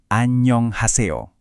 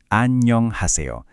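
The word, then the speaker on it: 안녕하세요: Nah, dalam bahasa Korea kita biasanya menyapa dengan anyong haseo. Coba dengarkan pelan-pelan ya. Anyong Haseo. Sekali lagi, Anyong Haseo.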